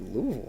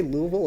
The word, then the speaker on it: Louisville: And I know I am familiar that he picked Louisville in this game, Yeah. which surprised me. Do you say Louisville or Louisville?